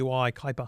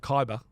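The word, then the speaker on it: Kuiper: called Kyper Kyper ker it's spelled weirdly K Ki Kyper Kyper not Kyer Kyper Kyper not the Kyper pass Kyper Kyper dangerous yeah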